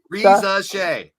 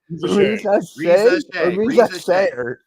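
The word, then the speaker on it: Risacher: I still can't pronounce it. Reza Shea. Reza Shea. Reza Shea.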